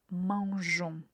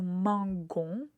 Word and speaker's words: mangeons: autre verbe en er, mais il faut faire attention concernant la première personne du pluriel. Avec nous, il faut ajouter un e à l'écrit. Donc avant la terminaison ons, on ajoute la lettre E euh qui nous permet de garder la même prononciation. Nous mangeons. Si on n'ajoute pas la lettre E, euh la prononciation serait nous mangons. Et ça fait un peu bizarre.